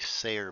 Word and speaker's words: Sayer: whoop where'd it go her name's actually sayer by the way i just mispronounced it once and and now it's stuck but now it's stuck